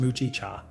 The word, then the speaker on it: mugicha: Instead of the evening drink, they'll have a caffeine-free Japanese tea, like mugicha, pronounced mucci cha, which is roasted barley